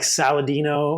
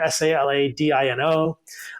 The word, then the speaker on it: Saladino: My last name is spelled like Saladino, like salad and dinosaur. A little irony there, Saladino.